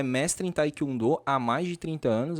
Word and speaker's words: Taekwondo: E sílaba tônica é a última, Taekwondo. Taekwondo. Algumas pessoas falam Taekwondo. Taekwondo. Tem sílaba tônica no meio. Mas no coreano, a sílaba tônica é sempre a última.